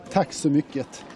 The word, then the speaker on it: Tack så mycket: Tack så mycket.